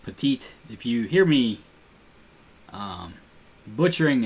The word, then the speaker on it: Petit: Yusmeiro Petit. I've been watching the Angels a little bit, so I found that is pronounced Petite.